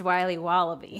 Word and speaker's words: Wiley Wallaby: It's pronounced Wiley Wallaby.